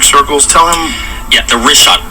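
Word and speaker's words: Richat: of these concentric circles, tell him yet the rishot. R I C H A T. It's worth mentioning that. Yeah. In the first couple, I just want to say it's Rishot. I used to call it Rickot.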